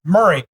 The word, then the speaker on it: Maury: in Maury County, and she's like, it's Murray. And I was like, oh, It's Maury. it's. I said, it's sorry, it's spelled Maury. She's like, nobody calls it Maury.